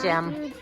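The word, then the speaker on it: gem: Okay, that's going to be a soft G. J. Right to it. This time he works outside. What is it, Jem?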